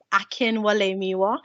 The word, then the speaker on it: Akinwalemiwa: angels so i'm miss akinwalemiwa so it is a bit of a long one but it is literally just said as it is spelt so akin and then wale miwa so you can just